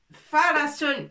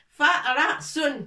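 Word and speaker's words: فَرَسٌ: Farasun. Le fa, on a déjà vu avec fatha, ça se prononce fa. Ra avec fatha, ça se prononce ra. Et sin avec tanwin, ça se prononce sun. Farasun.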